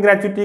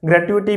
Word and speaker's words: gratuity: Pronunciation ग्रेच्युटी की ग्रेच्युटी भी हो सकती है, ग्रेट्युटी भी हो सकती है, दोनों तरह से ठीक है।